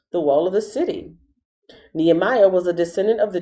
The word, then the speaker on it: Nehemiah: amman nimrod new year nephilim nebosh necklace nebuchadnezzar nehemiah here we go this is how you pronounce his name knee and his name actually